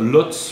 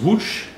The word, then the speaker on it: Łódź: L'histoire commence à Łódź, donc ça se Lotz, mais en polonais ça se prononce Łódź.